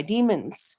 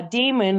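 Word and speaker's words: daemon: into computer language uh demon or Damon because it's spelled with the AE uh it's it's a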